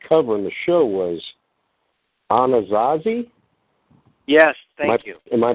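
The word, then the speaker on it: Anasazi: that we could cover in the show was anazazzi yes thank you am i pronouncing that right yes you are yeah okay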